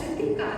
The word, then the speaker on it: Hrithika: My parents with their awkward, award-winning smiles would clarify and say, "It's just Hrithika, that H is silent."